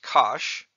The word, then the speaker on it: cosh: rhymes with grinch and this is pronounced kosh rhyming with gosh these functions of course